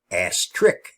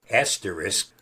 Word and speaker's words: asterisk: And no, it's not pronounced a trick. The real name asterisk from the Greek asteriscos